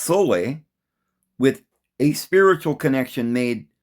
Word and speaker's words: sol: of salt, solution, is sometimes called sol, pronounced sole, with a spiritual connection made to liquid sunlight in some contexts.